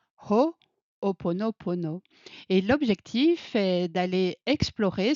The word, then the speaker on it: Ho'oponopono: Aujourd'hui, je suis avec Jennifer et ensemble, nous allons explorer en conscience le sujet Ho'oponopono qui normalement devrait se prononcer Ho'oponopono.